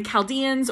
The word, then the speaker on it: Chaldeans: the name of the Chaldeans CH but it's pronounced with the heart the Chaldeans or chaldea that is the same as Babylon